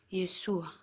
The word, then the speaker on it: Yeshua: Aunque pronunciado en arameo, y así lo llamaban Yeshua.